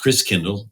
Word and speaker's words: Christkindl: And the German pronunciation of Christ child is Christkindl, which turned into Kris Kringle.